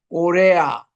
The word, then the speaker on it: Corea: 요게 꼬레아 이렇게 이제 발음을 하는데 이 꼬레아가 프랑스 또 남미 계통, 포르투갈, 스페인 이 사람들이 우리나라를 꼬레아라고 불렀어요.